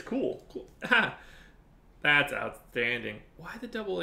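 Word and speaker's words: Kuhl: going before the Pirates am I saying that correctly is it cool is it cool I'm really bad at pronouncing dams I think it's just from where I'm from it's cool that's outstanding why the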